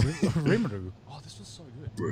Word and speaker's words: Rimuru: I did little not pronounce that plushie. correctly. Rimuru.